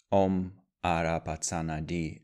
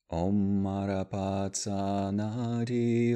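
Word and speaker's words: Om Arapachana Dhih: beings, we can recite Manjushri's most famous mantra, Om Arapatsana Di, as it's pronounced by Tibetans. First, if we wish, we can chant the mantra a few times. Om Arapatsana Di, Om Arapatsana Di, Om Arapatsana Di, Om Arapatsana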